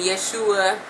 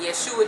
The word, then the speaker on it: Yeshua: where you can put in um put in Yeshua or Jesus and it'll tell you I'm sure